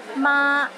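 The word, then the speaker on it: 媽: word or sentences too for example ma in the first tone means mother while ma in the fourth tone means linen and ma in the fifth tone means horse don't get them mixed up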